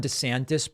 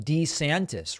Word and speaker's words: DeSantis: He's demanding that people call him DeSantis rather than DeSantis. Actually, I like De better, a nicer flow, so I'm happy he's changing it.